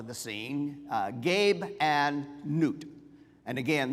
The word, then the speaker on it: Nut: scene uh Gabe and n and again this should be pronounced n not nut okay uh sometimes it